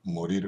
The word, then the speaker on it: morir: morir는 이에 액센트가 들어가죠. morir morir mi sento.